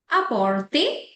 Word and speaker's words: apporter: जो ईआर की प्रोनाउंसिएशन आती है वो ए जाती है.